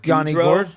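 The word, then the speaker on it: Yanni Gourde: Yanni Gourd. Yes. Yanni Gourd.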